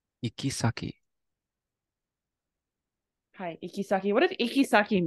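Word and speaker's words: 行き先: Do you remember how this word is pronounced? Ikisaki.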